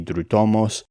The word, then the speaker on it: Δρυτόμος: They're definitely pronouncing it in a modern Greek way because the ancient Greek is taught with the U shape, sounding like a U, so it would be dritomos. But they're saying dritomos, which is the modern.